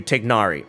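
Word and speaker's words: Tighnari: egregious ones is tinari it's really not anywhere near tainari but it's closer to tignari and I know I'm not pronouncing that correctly because I can't speak Arabic but the thing is that is as close as in English you can get to it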